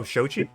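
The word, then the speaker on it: Xochi: Start with the X. Zoshi? Yeah. Oh, Shochi? Yeah.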